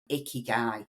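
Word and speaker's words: ikigai: So it's spelled I K I G A I. Icky guy.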